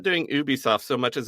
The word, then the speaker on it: Ubisoft: just doing Ubisoft and I will pronounce it Ubisoft not Ubisoft because they say a Ubisoft original on them not an Ubisoft original and I hate that